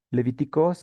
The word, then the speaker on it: Λευιτικός: con esta palabra leviticoz así como está entre paréntesis así se pronuncia levíticos que significa sobre los